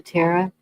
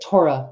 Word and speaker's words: Torah: ones that killed him the priests and um what they studied the Terra. Tarot. I know I'm saying it wrong. The Torah. And yes, Torah.